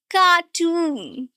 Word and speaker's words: cartoon: And the second one is a long wall sound, stretched sound, and the stress is also on the second syllable. Cartoon.